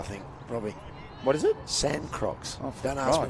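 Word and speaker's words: Sancroix: a good energy yeah sand crocs sand crocs sounds like something you'd wear on the beach it does how do you spell it again becca yeah uh s a n c r o i x it's got a throw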